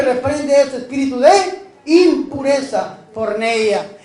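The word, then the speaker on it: πορνεία: Se dice porneia. ¿Cómo se dice? Porneia. Impureza, de donde viene una palabra muy conocida en este mundo actual, que es la palabra pornografía o porno. Porneia.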